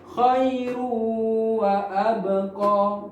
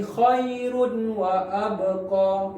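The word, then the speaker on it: خيرٌ وأبقى: Nah, ini contohnya khairu wa abqa. Kita tidak membacanya lagi khairun wa abqa ya. Karena ini hurufnya yang dibaca dengan dengung atau gunnah.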